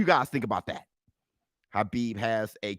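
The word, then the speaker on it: Khabib: so from my understanding his name is pronounced habib now hold on hold on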